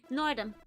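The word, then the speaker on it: Nordom: Nordum. It rhymes with boredom.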